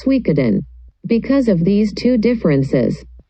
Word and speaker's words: Suikoden: About the title, the pronunciation in Chinese is Shuiyuzhang, and in Japanese, the pronunciation is Suikoden.